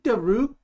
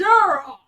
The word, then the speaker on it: Durock: comes up and like Mr daroo it's Durock dur Rock sorry sorry don't kill me